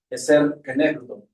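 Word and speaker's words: עֵזֶר כְּנֶגְדּוֹ: Y estaba estudiando el término idónea, es una palabra hebrea que se pronuncia eser kenegdo.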